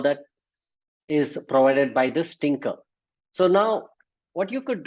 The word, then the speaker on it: Tkinter: the thinker so Tinker is nothing so it's pronounced as Tinker but it's not the spelling is different it's